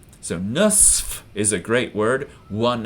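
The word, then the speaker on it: نصف: would say in English almost nobody will pronounce the fa on the end of this word they'll always say in fact I had to kind of articulate it there to remember to say it because everyone will say sa because it's just so much easier than so watch out you write it differently than you actually pronounce it so seven and a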